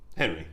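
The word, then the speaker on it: Henri: it's his first name uh spelled h-e-n-r-i so henry yeah henry yeah all right whatever yeah great he probably changed the pronunciation after he got a certain number of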